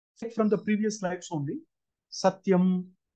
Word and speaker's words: satyam: For example, from the previous lives only, Satyam, Satya is a word, but it can give two different meanings depending on where you put stress, whether it is on the first syllable or the last syllable. Satyam, Satyam, like Jnanam, Jnanam, Jna Adi Udatta.